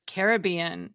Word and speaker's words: Caribbean: close to Brave Warrior thus the word carob became the root for the word Caribbean meaning of the carob which suggests the original pronunciation was Caribbean just like Disney's movie these Island carobs as